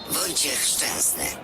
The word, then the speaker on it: Wojciech Szczęsny: Wojciech Szczęsny. Again, please. Wojciech Szczęsny.